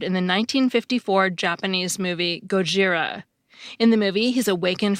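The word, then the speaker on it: ゴジラ: the 1954 movie as Gojira, not Godzilla. That's because Godzilla is an anglicized version of the Japanese word Gojira.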